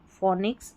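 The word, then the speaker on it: phonics: Number 5 पर है पी एच, इसको फ पढ़ना है। देखिए यहाँ पर पी एच है, पी एच है, पी एच, पी एच, पी एच, और यहाँ पर भी है, तो फ, फोन, फोटो, फोनिक्स, एलिफेंट। तो पी एच जब साथ में आएगा फ पढ़ देना है।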